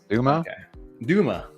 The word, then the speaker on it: Dumba: Jar Dirt winner is Dumba or Dumb A? Dumba. NBA. However you pronounce that. Congrats on the jar of dirt. You won some jars of dirts, and in order to claim that jar of dirt, Doom, you need Duma. B is silent.